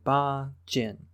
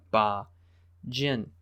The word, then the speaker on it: Ba Jin: Today's book is Family by Ba Jin.